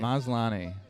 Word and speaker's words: Maslany: How do you pronounce his last name? That's how I say it. Maslany. Maslany? Sounds Yeah. Italian. So I had it right?